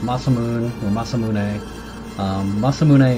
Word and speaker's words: Masamune: muscle moon or Masamune Masamune is actually the correct Japanese pronunciation so that's what I tend to go over there although Masamune is the English pronunciation